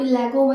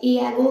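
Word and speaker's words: Iago: इसे आप लेगो मत प्रोनाउंस करिएगा क्योंकि ये L जो है साइलेंट है, इसलिए हम इसे इयागो ही प्रोनाउंस करेंगे।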